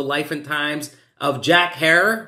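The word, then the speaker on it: Herer: and times of jack hare rhymes with terror which we dropped on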